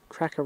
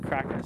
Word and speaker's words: Krakouer: We think it's Krakouer, but the guy was Jewish and it's spelt with a lot of extra vowels, so we're not quite sure, but we heard the lady in town said Krakouer, so.